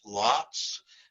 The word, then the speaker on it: Laats: And it's Laats is how you pronounce it.